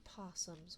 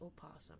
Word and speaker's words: opossum: Because, like, our possums would have definitely looked. Either way, it's still not pronounced opossum, right? The O is silent, so it's still just possum.